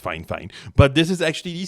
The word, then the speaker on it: Fifine: k 65 8 podcast microphone now yes it's pronounced fine fine but this is actually the second fine fine